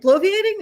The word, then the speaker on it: bloviating: You're adding a syllable. It's just opaque. Bloiating. Yeah. Bloiating. That's right. Bloviating.